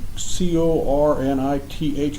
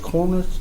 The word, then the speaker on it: Corinth: a little research, there's a place in Mississippi, Corinth, and I say it wrong, but the Battle of Shiloh, and they went down to this railroad town in Mississippi out of Tennessee, Mm-hmm. Cornith, Corinth, Mississippi.